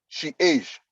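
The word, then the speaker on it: chage: e c h a g e is is pronounced she age so change age so for instance it that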